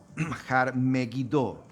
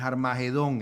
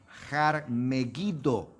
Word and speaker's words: Har Megiddo: monte, y por eso pues en hebreo se pronuncia de esa manera. Har Megiddo, no es Armagedón, hermano. Esa es una pésima interpretación o una pésima transliteración del nombre de un monte que se llama Har Megiddo.